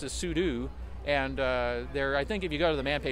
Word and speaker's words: sudo: because uh we uh that's just I just pronounced it sudoo and uh there I think if you go to the man page somebody just say it's the proper command the proper terminology is pseudo but it's like VI and uh um uh